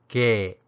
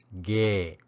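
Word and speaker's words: ခဲ့: review the past tense particle is pronounced gay or gay depending on the tone that precedes it it's placed right after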